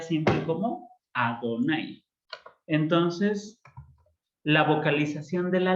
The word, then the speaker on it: Adonai: Por ejemplo, Yod Hei Vav Hei lo vamos a pronunciar siempre como Adonai.